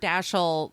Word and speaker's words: Dashiell: life uh he was born and it's Samuel dashel ham or dasi we've heard it pronounced two different ways I think that's correct lilan Helman in that interview says that the correct pronunciation is actually Dil the we've always heard dashel I mean I don't